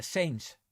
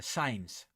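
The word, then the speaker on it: Sainz: Well, you know, apparently I I'm I'm always pronouncing the name uh saints wrong uh because it's uh science and uh I keep forgetting because I saw on YouTube how he pronounces his name.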